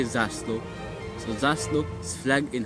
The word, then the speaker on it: zászló: That's right, you say zászló.